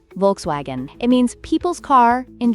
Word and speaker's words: Volkswagen: And let's not forget Volkswagen, which is pronounced Volkswagen.